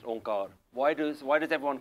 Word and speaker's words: Onkar: So how do we know that this symbol actually should be pronounced onkar?